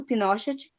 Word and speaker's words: Pinochet: É porque às vezes você assiste alguma notícia, alguma coisa, Daí eles não vão falar Pinochet, eles vão falar Pinochet. Mas é Pinochet.